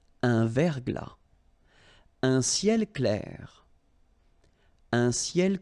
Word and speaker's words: verglas: Un verglas. Un ciel clair. Un ciel couvert. Un ciel nuageux. Une bruine. So let's see them. Une rosée, final E not pronounced. Un verglas, final S not pronounced. Un verglas.